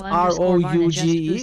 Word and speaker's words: rouge: Critical Hits boost but the one with r o u g e is a French word that is pronounced Rouge new critical hit boost